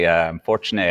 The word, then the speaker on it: Fortuné: Fortuné. Everyone always asks about the name. How did you pronounce it? What is it? It's a French name. It's an old family name.